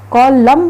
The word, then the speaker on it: column: Which letter is silent in the word column? Column में कौन सा word हमारा silent है? N. कॉलम बोलते हैं ना, n हमारा साइलेंट रहता है, सो n इज a silent word.